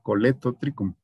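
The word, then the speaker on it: Colletotrichum: más correcto tricom y la doble l siempre se pronuncia como l por eso éste lleva doble l pero es que se pronuncia el coleto tricom e quién está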